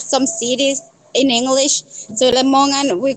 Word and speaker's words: Lamongan: Lamongan, East Java. East Java. Where? Lamongan. Lamongan. Maybe I'm not pronouncing it right. Lamongan. Lamangon.